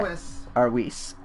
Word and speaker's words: Whis: Whis or something like that. Whis, okay. Whis. Is how a lot of people pronounce it and how they pronounce it in English dub.